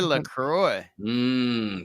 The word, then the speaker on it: LaCroix: Peach pear LaCroix. That sounds awesome. Yeah, that is. Doesn't sound bad. And it's pronounced La Croix. Sounds It's French, you understand? Actually, it's French Canadian.